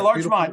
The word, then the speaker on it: Larchmont: Yeah, Larchmont.